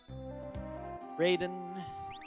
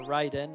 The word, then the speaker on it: Raiden: if i need them raiden or ryden as it should be pronounced uh stamina two some